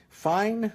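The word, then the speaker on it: Phyne: Fine Motor Company, I think that's probably the way you pronounce it, P-H-Y-N-E.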